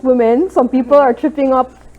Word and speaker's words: Womxn: the the ex um it's still pronounced women some people are tripping